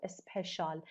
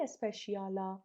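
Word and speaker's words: special: پس روسری شال beneficial، روسری شال اسپشال. یه وقت نگی اسپشیالا، ما اسپشیال تو انگلیسی نداریم. اسپشال beneficial. اوکی؟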